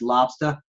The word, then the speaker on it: lobster: Yes, that's lobster ending with an A, not an ER.